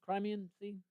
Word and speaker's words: Crimean: And some of the some of the land on the waterfront that you that you the Creian Sea uh how do you say Crimean? Crimean.